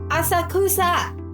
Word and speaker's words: Asakusa: Hey love, how'd you pronounce that place again? Inioto? Asakusa! Okay, she gets me. Asakusa.